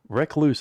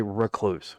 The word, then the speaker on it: recluse: Recluse always comes out wrong because it sounds like you're reckless. Recluse. Yeah, so it just sounds weird. Say recluse, R-U-H, even though it's spelled R-E-C-L-U-S-E.